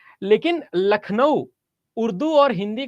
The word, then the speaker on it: लखनऊ: बड़ा कबाड़ा किया है अगर आप कहीं पर भी खराब नाम देखते हो जैसे लखनऊ तो लखनऊ का नाम वैसे हिंदी में लखनऊ है लेकिन अगर आप उसकी स्पेलिंग देखोगे तो अंग्रेजों ने उसका कबाड़ा कर दिया क्यों क्योंकि एल यू सी के एन ओ डब्लू लखनऊ अब सोचो अंग्रेजों को लखनऊ कहना आता नहीं था क्योंकि उसमें खा के